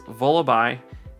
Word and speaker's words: Vullaby: And I thought it was Vullaby when I first looked at it, but it's Vullaby, and its evolution is Mandibuzz.